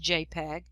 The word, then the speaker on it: JPEG: and it's a jpeg jpg that's an image file pronounced jpeg insert the steel jpeg